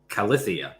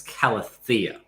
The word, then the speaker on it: Calathea: So yeah, the emphasis is on the thea. So it's not Calathea, it's Calathea.